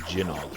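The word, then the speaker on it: Gynoug: This reminds me of Gynog, also called Jinog. If you're Japanese, you pronounce it Jinog, but anyone who speaks English looks at it and they say Gynog.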